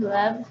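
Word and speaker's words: Lev: peace by leo tolstoy i've heard people say love toy which i think that's the russian pronunciation love instead of leo but and i'm thinking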